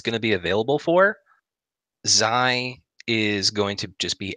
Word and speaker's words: Xi: It is pronounced Xi. See, I would have got it wrong. Xi. X-I.